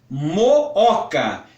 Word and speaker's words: Mooca: do bairro mas o nome do bairro é Mooca é um hiato os dois ossos precisam ser pronunciados tudo bem e prosseguindo tipos saudar em